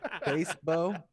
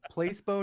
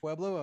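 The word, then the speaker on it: Peloton: says it's su's work place bow Place bow not peblo I was saying it wrong place bow the place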